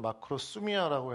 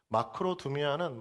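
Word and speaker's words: μακροθυμία: 제가 주보나 또 우리 4W 안에는 마크로스미아라고 했는데 두미아라고 이야기하는게 또 정확한 발음인 거 같아요. 마크로두미아는 마크로스와 두미 두모스의 합성 합성어입니다.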